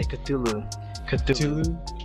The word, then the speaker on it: Cthulhu: That's how you say Cthulhu.